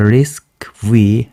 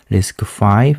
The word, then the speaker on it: RISC-V: the engineer call the risk V rather than risk 5 remember that the official and pronunciation of this term is risk five rather than risk V and talking about design